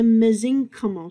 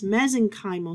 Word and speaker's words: mesenchymal: Another connective tissue cell are the mesenchymal cells. Now, some people pronounce it as mesenchymal cells. I say either one. So regardless of you say mesenchymal or mesenchymal cell, your takeaway, ladies and gentlemen, these are stem cells, all right?